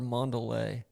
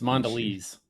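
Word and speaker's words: Mondelez: Ryo's owned by 3D printed meat company came and Tates owned by is it is it Mandles or Manderlay? It's Mandles. Mandles. Okay. At least in America it is.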